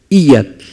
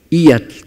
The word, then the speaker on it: iyatl: Entonces, ijyatl en realidad es una planta que da olor, el humo precisamente, y se pronuncia ijyatl. Ijyatl, como que la I se alarga un poco, como si pusiéramos doble I.